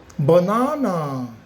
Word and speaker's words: banana: It is pronounced banana again. B no b no banana again banana. Do not forget the stress is located at n a and don't forget the word stress.